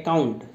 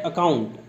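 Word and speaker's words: account: ठीक है, अब इसमें बहुत सारे बच्चे जो है इसका उच्चारण करते हैं अकाउंट। अकाउंट नहीं होता है, वो होता है अकाउंट।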